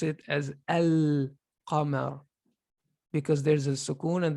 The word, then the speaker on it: القمر: But in this word, we say al-qamar. Al-qamar. Because this is the qaf is called a lunar, a qamari letter, and so you pronounce the lam.